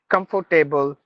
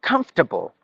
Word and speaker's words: comfortable: the words like a sometimes we say comfort table veggie table notable no not table it's tble like comfortable vegetable notable suitable editable